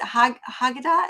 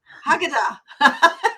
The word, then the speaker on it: Haggadah: Haggadah? Is that Haggadah. Haggadah? Haggadah. Okay, I was close in my Yeah, pronunciation.